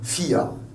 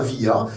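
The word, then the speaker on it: vier: Par exemple, le chiffre 4, on dit FIA. Ça s'écrit avec un V, mais on ne dit pas VIA, c'est un FIA.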